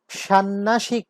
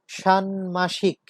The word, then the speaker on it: ষান্মাসিক: বাংময়, উ এর সাথে যুক্ত হয়েছে ম, তাই তার উচ্চারণ হচ্ছে বাংময়। কুটমোল, কুটমোল, কুটল না কিন্তু, কুটমোল। ষান্মাসিক, ষান্নাসিক না, ষান্মাসিক।